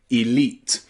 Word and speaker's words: elite: on some exams it's an advanced English word elite elite hopefully after you finished watching all of